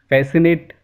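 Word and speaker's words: fascinate: Rule number one, अगर किसी word में एस और सी एक साथ आता है ना, तो उस केस में सी जो है वो साइलेंट हो जाता है। सी इज़ not pronounced in the combination of एस और एस एंड सी। देखिए कुछ एग्जाम्पल दे इसके, एसेंट, फैसिनेट, मसल, इन सारे वर्ड्स में एस और सी एक साथ आ रहा है, इसीलिए सी जो है वो साइलेंट हो गया है।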